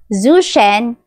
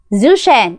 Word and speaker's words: Zhou Shen: So just correct me if I'm wrong ha, but I pronounce his name as Zuchen.